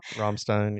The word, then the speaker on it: Rammstein: Rammstein. Yeah. Rammstein, excuse Yeah. me, thank you, because Yeah, I yeah. always mispronounce their name.